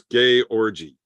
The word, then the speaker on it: Georgi: See, I think what the problem is here, Roy, you're putting the emphasis on the wrong syllable.